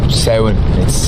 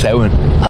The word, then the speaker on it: Samhain: Samhain. It's pronounced Samhain.